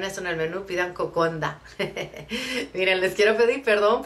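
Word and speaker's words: kokoda: el título de esto es cocoda pero se pronuncia Cocona eh los villanos hacen unda su nd Así que si alguna vez están en fiji y ven eso en el menú pidan cocondo miren les quiero pedir perdón por todo el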